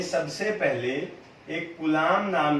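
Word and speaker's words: Coulomb: कुलाम, last में बी था, B silent है, वैसे कुलाम है।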